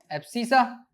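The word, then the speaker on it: abscissa: एक और चीज नेमिंग की बात करें तो एक्स वाले एक्सिस को कहते हैं एप्सिसा। ठीक है? अ स्पेलिंग पे ध्यान मत देना। जो मैं प्रोनाउंस कर रहा हूं वो सुनो।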